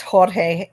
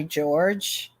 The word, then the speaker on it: Jorge: Jorge some people call it's it's Jorge but he went by George so um yeah but Jor is a George in Spanish uh so you can't